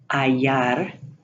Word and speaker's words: hallar: However, the double L is pronounced like a Y. Hallar, bella.